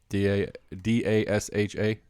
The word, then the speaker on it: Dasha: D-A-S-H-A. And it's Dacia? Mm-hmm. I mean, that's again that combination of letters looks like Dacia or Dasha to me, but she prefers pronounced Dacia, and I have no issue trying to pronounce it correctly.